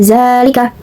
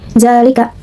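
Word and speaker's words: ذَٰلِكَ: Selanjutnya ada zalika. Hukum tajidnya yaitu matabii karena terdapat zal bertemu dengan alif yang dibuang itu.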